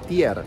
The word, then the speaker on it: tier: las 10 coronas danesas en danés se le dice tier que es muy parecido a cóm se pronuncia tigre tier también en danés entonces decidieron bautizar a